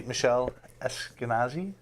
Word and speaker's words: Michelle Esquenazi: but anyway my guest tonight is can be Michele Eskenazi yes I said it right who is the